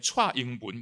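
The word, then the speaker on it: 蔡英文: 대만의 지금 그 총통은 민남어로 발음하면 차잉분, 차잉원이죠. 차 하면은 유기음이고요.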